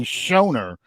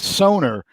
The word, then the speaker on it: Soner: Soner. I keep looking for the C in his name because it looks like it should be Shoner, but it's Soner.